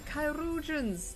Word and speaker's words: Chirurgeons: The Chirurgeons. That's how it's pronounced.